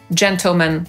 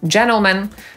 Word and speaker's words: gentlemen: I właśnie w amerykańskiej angielszczyźnie w wielu innych słowach również pomijamy literę T w zbitce NT. Między innymi w słowie internet, które wymówimy jako internet lub internet, 20, 20 lub 20, panowie, gentlemen lub gentlemen, hrabstwo, county lub county, a nawet zima, czyli winter lub winter.